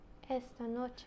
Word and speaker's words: esta noche: So there's a vowel, so the stress is on the penultimate Syllable. syllable, right? Unless the nose roll. Mm-hmm. For example, por ejemplo, tonight is Esta noche. esta noche, and we put the emphasis on the penultimate, esta noche, okay?